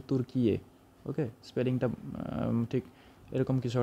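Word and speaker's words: Türkiye: Next, আমার ব্যক্তিগতভাবে খুবই পছন্দের একটি শহর, যেটা হচ্ছে ইস্তানবুল, টার্কি। ওকে, টার্কির নাম বর্তমানে চেঞ্জ হয়ে গেছে, টার্কির নাম হয়ে গেছে তুর্কিয়ে।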